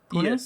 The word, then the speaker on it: Pune: Anyway, Mayur, you're a program manager on Xamarin team at Microsoft, and you work from home at Pune. Is that correctly pronunciation? Pune? Yes, exactly.